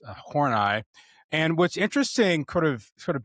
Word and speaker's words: Horney: Her last name is actually spelled Horney, which in English is pronounced horny. So whenever I present it to my students, they always giggle, of course. But the German is pronounced Horney.